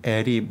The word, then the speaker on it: DeepL: 딥풀이라고 발음하는 사람도 있는데 저는 딥엘이 맞지 않나라고 생각을 하고요.